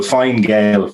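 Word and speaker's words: Fine Gael: you fina fall or fina gale and uh well fine gail was how they pronounced it down there and the only the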